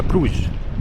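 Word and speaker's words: Bruges: بتقاع فبيقولوا عليها بروخه في ناس بتقول عليها بروج بالفرنساوي فاحنا هنقول يعني الدارك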